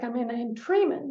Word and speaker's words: Treiman: It can even be spelled with the letters EI, like I mean in Treiman. That's pronounced as "ee," and, there, the spelling is EI.